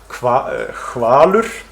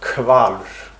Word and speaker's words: hvalur: So first of them is so-called HV pronunciation in words like hvalur, whale, with a voiceless velarfricative in initial position, where most speakers would pronounce hvalur with a stop.